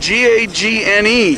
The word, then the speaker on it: Gagne: Your name is spelled G-A-G-N-E. Right. How do you pronounce it? Gagne. Gagne, the French.